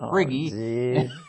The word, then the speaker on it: Priggy: he had Rammon and he had Prig instead of Priggy.